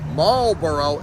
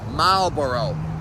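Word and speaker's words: Marlborough: to pronounce this Marboro it's not maloro it's Malboro so it's m a l b o i o every time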